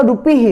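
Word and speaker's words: rupiah: तो इंडिया का रूपी यानी रुपया है, लेकिन यहाँ का रूपी ही है। हा का प्रोनाउंसिएशन आ रहा है, हा का वर्ड आ रहा है, रूपी ही।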